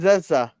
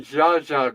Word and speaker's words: Zsa Zsa: Eva and Zessa Gabor, What's that? Eva and Zessa. No, no, it's Eva Gabor and Zsa Zsa Gabor. Oh, the Jaza. Well, it's Right, spelled with a Z.